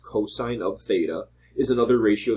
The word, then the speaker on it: cos: ratio moving on cosine abbreviated cos still pronounced cosine of theta is another